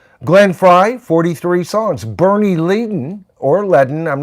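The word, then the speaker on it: Leadon: Bernie Dragon says it's pronounced Leen. Okay, good. Good. Bernie Leen.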